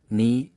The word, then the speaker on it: knee: But in most cases the k is silent and only the n is pronounced. Common k words knee, knife, knock, no, not knit.